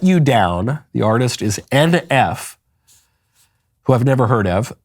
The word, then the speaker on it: NF: Am I pronouncing that right or is it pronounced oomph? It's NF. Okay. It's not oomph, oomph, oomph.